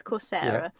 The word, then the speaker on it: Coursera: I never know how to say it, but I think it's Coursera.